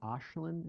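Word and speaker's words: Aisling: And the organization, and I'm mispronouncing, is it Ashland? Am I saying it correctly? Yes, you did say it correctly.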